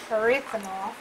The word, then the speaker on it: erythritol: Erythritol. No, there's no N. It's erythritol. Erythritol. You Duh. can't teach me how to speak English? All this time you say it wrong.